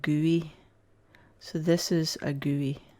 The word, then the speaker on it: GUI: GUI for sure and you pronounce it GUI so this is a